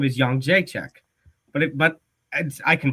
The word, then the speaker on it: Jędrzejczyk: Her last name is Jędrzejczyk, but I can pronounce it.